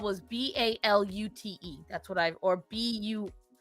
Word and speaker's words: balut: I did bailout once. Not a fan. Bailout? Balut. Oh, balut. That's not how it's spelled.